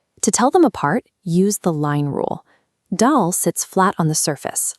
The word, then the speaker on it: Dal: Dal must rhyme with pal or hal.